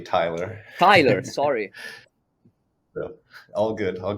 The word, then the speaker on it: Tylor: curious myself and please Taylor go ahead if you want to do any introduction or take it from here sure um I know it's spelled a little weird but my name is actually Tyler Tyler sorry all good